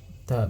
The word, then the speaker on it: THAAD: Euh il épelle le mot au lieu de le prononcer. Normalement, euh les les humains, ils disent les missiles THAAD. Ceux qui connaissent ces missiles-là, ça se lit en THAAD, même si c'est T H A A D.